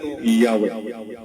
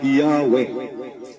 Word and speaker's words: Yahweh: Edition volum p 786 early Christian writers such as of Alexandria in the second century had used the form yahwe TH this pronunciation of